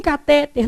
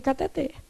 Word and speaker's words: cateter: O certo é cateter. A palavra é o que, gente? Oxítona. A última sílaba é que é tônica.